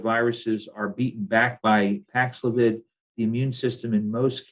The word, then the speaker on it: Paxlovid: I have a question about, and I cannot pronounce this word, the drug. I believe it's Paxlovid.